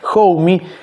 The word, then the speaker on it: Homme: Chris Novoselic y de Josh Homme, así se pronuncia, Josh Homme, y del señor Luca George Prodan, un personaje